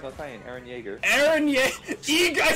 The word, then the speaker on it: Yeager: Eren Yeager! I said Eager! The worst pronunciation I've ever heard.